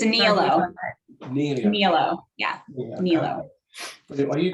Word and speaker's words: Nihilo: It's a Nihilo.